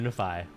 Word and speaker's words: UniFi: I'm currently at a school on my own installing 27 UNIF. Is it Unifi? I keep getting this wrong. It's either Unifi or UniFi. Unifi like Wi-Fi.